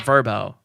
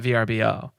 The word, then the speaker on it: VRBO: I just realized the other day that VRBO is pronounced verbo, not VRBO.